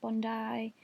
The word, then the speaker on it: Bondi: I always say Bondi Sands, it's pronounced Bondi, but yeah, I'm sorry if that annoys anyone.